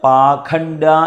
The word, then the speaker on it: പാഷണ്ഡ: പശുപാശ വിമോചിനി അടുത്തത് സംഹൃതാശേഷ പാഷണ്ഡ ഇവിടെ ഈ പാഷണ്ഡ എന്നുള്ളതിന് പാഖണ്ഡ എന്നും ഒരു ഉച്ചാരണ ഭേദം ഉണ്ട് സംസ്കൃതത്തിൽ പല ദിക്കിലും അത് ധാരാളമായിട്ട് കാണാറുണ്ട് പാഖണ്ഡ എന്നുള്ള വ്യത്യാസം അത് ആ ഉച്ചാരണത്തിലുള്ള ഒരു ഭേദം മാത്രമാണ് അർത്ഥവ്യത്യാസം ഒന്നുമില്ല പാഖണ്ഡ എന്ന് പുസ്തകത്തിൽ കാണുന്നുവെങ്കിൽ